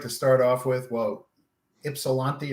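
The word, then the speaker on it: Ypsilanti: start off with well ipsilanti or however you pronounce it absolutely do not say gypsy because they do not like that i lived in ann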